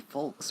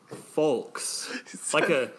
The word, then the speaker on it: folks: He pronounced the L in folks. We gotta get the fuck out of here. He said folks.